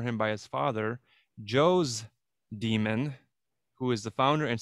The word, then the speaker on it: daemon: gonna take so in latin daemon or demon d-a-e-m-o-n pronounced demon that's a tutelary deity